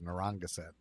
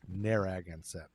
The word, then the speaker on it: Narragansett: up their agon set i always thought it was narangasan but it's neragonset according to youtube pronunciation anyway the big man had